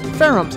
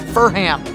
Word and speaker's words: Ferrum: Ferhams. Ferrums. I keep pronouncing it Furham. I gotta stop that.